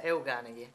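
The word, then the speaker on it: Euganei: It's Euganeghi.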